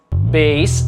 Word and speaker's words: bass: Bass é o instrumento musical, né? O baixo. Aí lembra então que a pronúncia é bass.